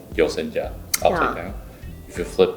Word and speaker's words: Yoseka: And the pronunciation is Yoseka. Yoseka. Yoseka.